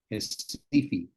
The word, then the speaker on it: Recife: It looks like Recife with an R, but it's really pronounced Recife. R is Pacific. pronounced H in Portuguese.